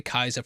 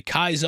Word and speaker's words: Caesar: She hears them say Kaiser and is very confused, thinking that they might mean a German Kaiser. And yeah, I'm glad they acknowledged it, because yeah, it's spelt Caesar, but pronounced completely differently.